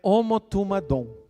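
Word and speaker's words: ὁμοθυμαδόν: A palavra grega, a palavra reunidos, nesse caso aqui, é uma palavra grega que pronunciada é homotumadom.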